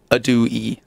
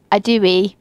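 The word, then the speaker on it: ydw i: Adui. Adui. So Liz Adui. Liz Adui.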